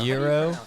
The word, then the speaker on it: gyro: it's pronounced A gyro. Euro.